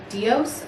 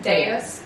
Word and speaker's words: Deus: We were pronouncing and then he came. I know. He told me too. Deus.